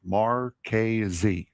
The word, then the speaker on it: Marquez: It's Marquez. That's how you pronounce it.